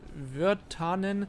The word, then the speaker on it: Virtanen: In the ensuing months, Virtanen, ja, ich würde sagen, es wird so ausgesprochen, weil es finnisch sein soll, ventured across Europe, establishing contact with Finnish political leaders, soldiers and dissidents in exile.